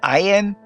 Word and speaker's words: Ayin: The Ayin is silent, so you only have the ah sound of the vowel, ah.